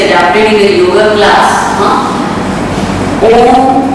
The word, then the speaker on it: Om: There is nothing religious about Om chanting, because when it gets adapted in the yoga class, Om is having 3 syllables, U and Ma.